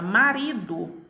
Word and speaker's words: marido: ela com mais intensidade a jama palavra marido a minha penúltima sílaba dri eu tenho a pronúncia dela com maior intensidade então nessa palavra marido